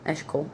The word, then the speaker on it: Eshkol: E s h c o l, Eshkol, and Aner, a n e r, all of who were allied with it.